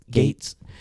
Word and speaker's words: Gaetz: Gaetz.